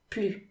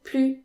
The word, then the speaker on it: plus: where you need to make the liaison with plu and pronounce it he's more ambitious than